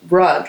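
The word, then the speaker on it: Rugh: oh right really good rug uh rug yeah spelled like r-u-g-h um yep yeah they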